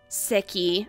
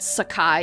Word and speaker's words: Seki: i just wanted um sicky i i think that's the appropriate way to say her name not sakai even though nostalgia me wants to say it like that but i just wanted